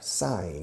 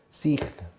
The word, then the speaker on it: sign: Firmar, sign. Hay un eje mudo en medio. Sign. Escrito, pero se pronuncia sign.